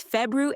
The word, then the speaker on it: February: It's February air.